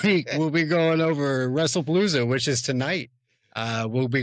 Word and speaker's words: Wrestlepalooza: First on the docket this week, Wrestling Palooza 2025 match card. Wrestling Palooza as a whole. Wrestlepalooza.